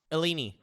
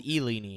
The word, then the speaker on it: Illini: What's the proper pronunciation, Eagle? Eleni. Fighting Eleni. Fighting Eleni. The Eni. Hey, if it's Houdini, this is Eleni.